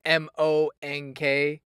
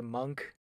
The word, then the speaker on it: monk: oh well you know it's it's m-o-n-k and yet as an american i say monk instead of like you know monk oh yeah yes that yeah honestly yeah that is a word that i've actually thought of before it's like yeah that is a bit of a confusing word for me to pronounce well i mean i i i'm guessing the british pronunciation is maybe maybe they go like monk yeah i think so